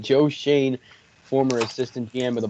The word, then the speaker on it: Schoen: manager it is joe shane we finally got his name right this time we know how to say it joe shane former assistant dm of